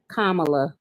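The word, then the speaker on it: Kamala: Kamla. I'm from the Midwest. We don't pronounce anything right. Um, I'm from the Midwest, too. Kamla. You know how to say Karma, don't you?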